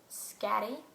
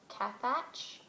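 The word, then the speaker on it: Scathach: my other favorite character whose name I cannot actually pronounce is scatty that's what they call her that's a nickname it's s-c-a-t-h-a-c-h so like cat thatch or something she's really interesting um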